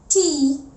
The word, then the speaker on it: thumb: T-H-U-M-B. What is this? Thumb. B. Before B comes an M. Thumb. That is why the B is silent.